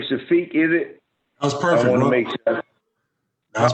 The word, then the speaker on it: Shafeeq: so um how do you say your name shafiq is it was perfect that's probably most folks